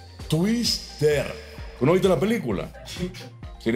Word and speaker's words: Twister: Porque dijiste bien en el nombre, pero lo pronunciaste mal. O sea, no es Twitters, es Twister.